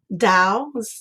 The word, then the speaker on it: Tao: And I love to look at water in that sense, just like Tao Te King. I am highly, being part Chinese, into Tao, Tao, that's how it's spelled, but Tao, T-A-O.